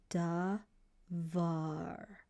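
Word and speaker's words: דבר: and you're going to pronounce it this way. Duh. So duh. Then you have v. And then a va. Then you have a r sound r dvar dvar and that's how you pronounce the word and this word means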